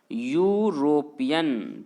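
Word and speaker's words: European: ठीक है, क्यों, क्योंकि मेरे प्यारे विद्यार्थियों, इसे जब आप पढ़ेंगे तो क्या पढ़ते हैं, मैंने क्या कहा, इसे, इसका प्रोनाउंसिएशन मैंने क्या कहा, यूरोपियन, तो यूरोपियन जब पढ़िएगा तो पहला अक्षर क्या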